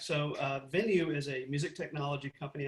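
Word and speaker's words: VNUE: of a company that i assume is pronounced venue but it's v-n-u-e so uh i figured i'm just filling in the e and uh it's not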